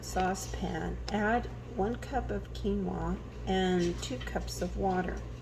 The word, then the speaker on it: quinoa: I looked it up and learned how to pronounce it quinoa so it says run cold water over quinoa